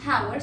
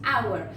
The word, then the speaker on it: hour: como J, no decimos hour, sino que decimos hour. Por lo tanto, la H en este caso es muda, y como es muda, la dejamos dentro de las an.